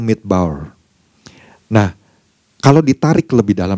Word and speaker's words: midbar: Ternyata kalau Bapak Ibu melihat dalam bahasa aslinya, bahasa Ibraninya, kata padang gurun ini di situ disebut kata padang gurun ini adalah midbar, ya. Midbar. Dibacanya tuh midbar.